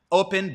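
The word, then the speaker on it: Opyn: gonna look uh into is open open but it's spelled o p y n I mentioned this on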